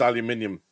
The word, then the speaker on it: aluminium: Yeah, it's pronounced aluminium.